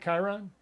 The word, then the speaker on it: Chiron: all these all these all these planets including Chiron is that how you pronounce it Chiron Chiron yeah okay yeah including including Chiron and